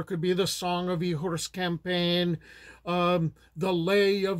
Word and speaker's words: Igor: nerve to tackle and that's the tale of ehor campaign or eigor if you're pronouncing it like Americans do and it's an